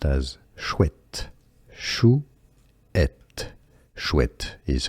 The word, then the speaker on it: chouette: It's pronounced as chouette, chouette.